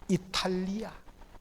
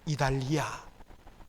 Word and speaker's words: 이탈리아: 못했는지 그 너무 아쉬워요 이탈리아 이렇게 우리 발음이 다 되지 않습니까 그런데 성경은 이달리아 우리가 마케도니아 한국 사람들